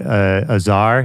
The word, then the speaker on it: Azar: I mean, obviously we mentioned earlier the song with Azar. Is that how you say it? Azar? Yep.